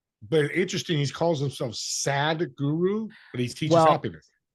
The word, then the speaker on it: Sadhguru: But interesting, he calls himself Sadhguru, but he teaches happiness. It's not SAD like how we would think, but that's how he says it.